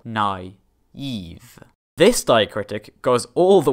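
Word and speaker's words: naïve: diphthong respectively the i is pronounced on its own in a new syllable nai eve this diacritic goes all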